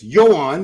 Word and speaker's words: Joan: Yoan, that's how you pronounce it. I've confirmed this with several Spaniards.